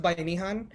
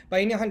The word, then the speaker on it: Bayanihan: I am I've been really interested it's it's pronounced by nihan by inihan desert was founded actually in 2019 after the